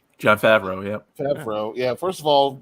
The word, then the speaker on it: Favreau: Look, John Favreau doesn't try to mispronounce his shit. It's spelled exactly how it sounds. John Favreau, yep. Favreau.